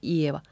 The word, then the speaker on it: Ieva: Emphasis on the first syllable of Ieva because it's on the beat.